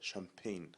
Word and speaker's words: champagne: هنا ننطقها champagne والجي silent.